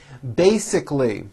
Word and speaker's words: basically: to meet after work basically there are three syllables bae sick lee basically